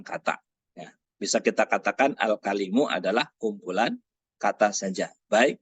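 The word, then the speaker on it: الكلم: yang ketiga adalah salisan al-kalimu. Nah, ingat bacanya jangan ini al-kalimu. Ketika ada tak marbuthah di belakang, maka ini dibaca kalimatun. Ya. Tapi kalau nggak ada tidak ada tak marbuthah, baca al-kalim.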